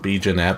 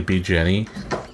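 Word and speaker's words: B. Jenet: It's funny because it's spelled out B Jeanette, but it's actually B Jenny. That's how they pronounce it.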